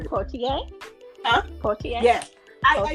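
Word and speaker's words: Poitier: Portier.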